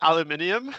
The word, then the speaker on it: aluminium: I see Scrivo saying aluminum, but is it aluminium? Aluminium, yeah. I say aluminum. That's their weird way to pronounce that, yes.